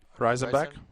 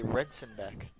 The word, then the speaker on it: Reisenbeck: Reisenbeck. Reisenbeck. I was about to say Rensenbeck.